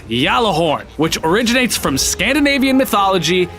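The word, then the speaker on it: Gjallarhorn: I am pronouncing yellow horn correctly it is pronounced yellow horde not gala horn or ghazala horn ogallala horn whatever i'll even care that freaking dinkle bot pronounces it as gallo horn in the game it's yellow horn which originates from Scandinavian mythology it's Heimdall's horn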